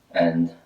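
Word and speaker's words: 安: I have a house with a roof on top, and my lady is sitting inside, so that's safe. And pronounce it as an.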